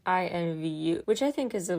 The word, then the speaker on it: INVU: and then I felt really dumb it is pronounced I in v u which I think is a really clever name